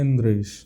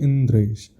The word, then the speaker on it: इंद्रेश: अब आपका नाम है, मेरा नाम है इंद्रेश, उसका शुद्ध प्रोनाउंसिएशन होना चाहिए इंद्रेश। अब कोई बोले इंदरेश और मेरे को बार बार इसी भाव से बोल इंदरेश, मैं भी कहूँगा अरे यार ठीक से बोलो ना, इंद्रेश नाम है हमारा।